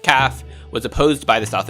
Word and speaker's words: CAF: originally the existence of the CAF usually pronounced calf was opposed by the